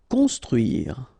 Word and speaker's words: construire: Construire, okay? O-N together, nasal, construire.